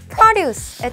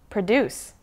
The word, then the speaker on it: produce: 많이 알려져 있는 발음은 바로 생산하다, 제작하다라는 뜻의 동사인 produce. 명사로 농산물, 생산물이라고 할 때에는 발음이 많이 달라요. produce. 네. produce. 강세가 앞으로 옮겨오면서 완전 다른 뜻을 갖게 됩니다.